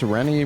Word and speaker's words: Rennie: My name's Rennie, rhymes with clean, but I feel more like cleaning some clocks right now.